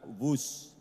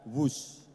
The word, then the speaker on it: Whoosh: Dan kereta cepat ini kita namakan WUS. W-H-O-O-S-H. Dibaca WUS. Ini diinspirasi dari suara yang melesat dari kereta berkecepatan tinggi ini. Dan singkatan dari waktu hemat, operasi optimal, sistem hebat. Sekali lagi, W-H-O-O-S-H, tapi membacanya WUS.